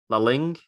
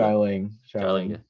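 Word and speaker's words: Xialing: So you had Katie, Shang-Chi, I can't pronounce some of them. Zhu Wenwu, his dad. Wenwu, yeah. And then is it La Ling, his sister? Xiaoling.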